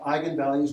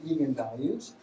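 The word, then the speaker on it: eigenvalues: values at all and they're pronounced eigen values not even values the eigen values are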